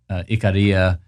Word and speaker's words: Ikaria: And I had this life-changing experience in a place called Ikaria. Some pronounce it Ikaria, but it's one of the easternmost Greek islands.